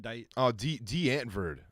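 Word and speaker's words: Die Antwoord: D'Antwoord is how you pronounce that.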